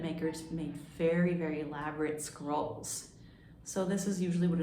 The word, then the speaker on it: scroll: It sounds a little bit like the word squirrel, but instead it's scroll with an O, and that's spelled S-C-R-O-L-L.